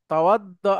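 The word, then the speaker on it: توضأ: তাওয়াদ্দা, সবাই একটু উচ্চারণ করে নেবেন প্লিজ, একটু কঠিন উচ্চারণটা।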